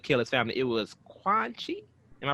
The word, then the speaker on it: Quan Chi: what somebody could kill his family it was quad chi am i pronouncing that right right yeah yeah it's quan chi so it right there it's revealed after he